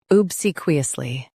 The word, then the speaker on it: obsequiously: Both US and UK have the same pronunciation of this word, OBSEQUIOUSLY. Now read the syllables shown on the screen naturally. See, qui, ly. OBSEQUIOUSLY. Stress C and keep qui light.